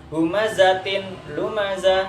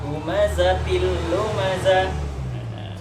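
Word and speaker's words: هُمَزَةٍ لُمَزَةٍ: Nah, di situ jadi tidak membaca humazatin lumazah. Nah, itu nanti beda lagi. Nah, jadi di sini ada hukum tajwid yang disebut dengan idgham bila gunah. Jadi kita membacanya humazatil lumazah.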